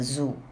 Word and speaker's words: zoo: A Tiger in the Zoo by Leslie Norris. You got the title? A Tiger in the Zoo. Pronounce it as zoo. A zoo nahi, that is zoo. Za, zameen. Darwaza. Azad. Za, za sound.